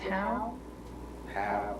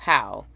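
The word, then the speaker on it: Hough: GED why he somebody D J is it how h o u g h does that sound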